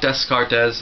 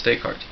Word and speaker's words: Descartes: kuu not not Kos same with decart it's not Descartes it's decart yep oh yes yes